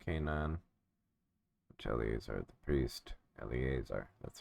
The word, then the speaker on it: Eleazar: Children of Israel inherited in the land of Canaan, which Eleazar the priest Eleazar, that's how you pronounce it.